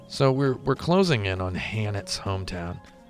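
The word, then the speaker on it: H'aanit: So we're closing in on Hanet's hometown. Or is it Ha'anet? I'm not sure. Nah, they pronounce it Hanet.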